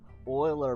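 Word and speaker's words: Euler: you know whatever um uler Oiler because language hates us you pronounce it Oiler you literally pronounce it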